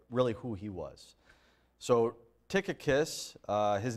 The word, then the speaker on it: Tychicus: the subject for today is going to be tickus yeah tickus so I'll spell it for you Ty y c h i